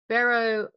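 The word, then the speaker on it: Bero: Barrow looks like it rhymes with hero, and he's anything but.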